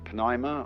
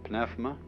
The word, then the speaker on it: pneuma: The Greek word, you may pronounce it pneuma or pneuma, is the same as spirit.